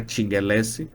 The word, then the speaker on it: Tchinguelessy: Eu respondo no LinkedIn por amilingeless nas redes sociais e que é Instagram e TikTok é a Tingeless do jeito mesmo que se escreve a T i N